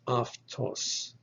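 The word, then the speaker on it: αὐτός: our previous video that alpha epsilon is pronounced so this word is aftos but the breath mark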